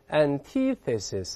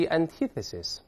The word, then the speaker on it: antithesis: 注意啊 antithesis 中间 th 有个吐舌的这个声音，我们再读一遍 The antithesis，再来一遍